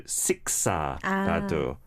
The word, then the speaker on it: 식사: I think a couple of pronunciation points were 죄송해서, I think it sounded a bit awkward, and also 식사라도, but it would be what? 식사. 식사, not 식사, 식사, 식사. Yeah. So the second S has a little more